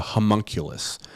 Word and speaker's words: homunculus: up it's a little creepy it's called a homunculus and it's spelled h o h-o-m-u-n-c-u-l-u-s and it's basically a